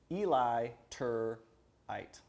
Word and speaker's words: Eliturite: if they're not e-l-i-t-u-r-i-t-e eli tur eight yeah right but illiterate so illiterate is who